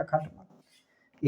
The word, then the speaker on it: खटमल: जैसे खट मल, खट इसका ये अंतिम है ट, इसका उच्चारण आधा है, आधा के हिसाब से लिखा है। मल इसका भी अंतिम ल है, आधा का उच्चारण है, इसीलिए एल ही लिखा है खटमल।